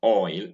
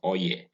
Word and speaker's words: oil: e so you have oil is the sound you find in oil o i l which many nigerians pronounce as oye all right that's very crude way of pronouncing the word oil is oil the next